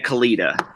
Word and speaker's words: Kalita: And then you got to help me with the pronunciation of it. A Kalita? Yeah. And a Kalita.